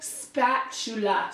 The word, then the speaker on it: spatula: know so spittoon look spatulas spot - look Sam that's how it's spelled you're putting the emphasis in the wrong spot spatula keep it up and